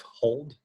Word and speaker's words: HODL: That's generally why there's the mantra of hold, which is spelled HODL, hold on for dear